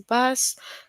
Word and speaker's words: bass: So in the sentence bass rhyme with case right.